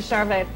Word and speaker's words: Charvet: Up next, superstars Ellie Landry and David Charvet.